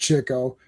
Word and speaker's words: Chico: I will say that was it Duck Soup or whichever the one where Groucho and Chico, and it is pronounced Chico, like he dresses up as Groucho and they do the mirror, like the fake mirror thing.